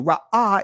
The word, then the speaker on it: Ra'ah: Ra'ah in ancient Hebrew is the pronunciation of the word.